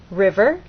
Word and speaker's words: river: In steamboat, you will either look in a dictionary and see that the first syllable is stressed, or hear people speak, and they'll say steamboat. River, you'll either hear people